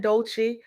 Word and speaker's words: Dolce: I'm Dolce, pronounced dolce like sweet softness whispered in French.